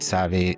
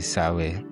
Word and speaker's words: Save: Some pronounce it Save, others say Sawe.